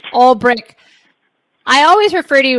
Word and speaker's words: Ulbrich: Ulbrich. Did I say it right? No, Ulbrich. Shit. It's all right. Ulbrich.